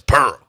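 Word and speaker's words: Prrrl: you say it oh that that that's p r r r l three Rs and L is Pearl okay that's what that's what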